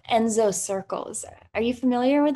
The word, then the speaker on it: enso: anxiety, because I stumbled upon this practice called Enzo circles. Are you familiar with that? Never heard of him. It's spelled ENSO, and it comes from Japanese Buddhism,